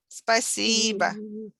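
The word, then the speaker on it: спасибо: how to thank people you can say spicyba spicy but with the stress on the second syllable spicyber thank you thank you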